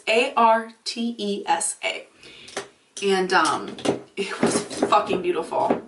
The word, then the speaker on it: Artesa: And it's called Artesia, maybe how it's pronounced. It's Artesa.